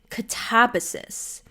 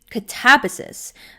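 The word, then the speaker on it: Katabasis: She was saying that apparently the way R.F. Kuang, like the author herself, pronounces it, apparently it's Catabasis, which feels unnatural to us. Like, I think, especially, we'd say the quote American or North American way, Catabasis.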